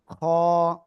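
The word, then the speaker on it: خ: খ গলার শেষ ভাগ থেকে উচ্চারণ হবে খ বাংলায় খ এর মত।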